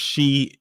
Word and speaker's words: Qi: a news release Tuesday I think his last name is pronounced she even though it's spelled Qi and you would think that it's spelled Qui but I think it's pronounced she of the grad the